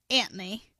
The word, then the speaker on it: Anthony: about two characters named Lenny and Anthony pronounced Antony squiggly ah no the voices